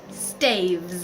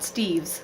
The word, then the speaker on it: staves: Staves. I keep saying it wrong. Not Steves. Staves. Steves is more than one Steve.